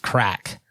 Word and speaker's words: craic: First of all, being crack, CRAIC, pronounced crack, which means general banter or fun, which I would say is us right now.